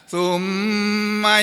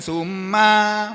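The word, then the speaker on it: ثُمَّ: Ayat berikutnya berbunyi, ini ayat yang ke-15, tsumma yatma'u an azid. Ini bacanya begitu ya. Tsumma, kemudian, bukan summa, bukan begitu. Summa pendek.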